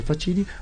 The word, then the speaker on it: Facini: de navio I Então facini que se pronuncia fatini pcom lá vocês podem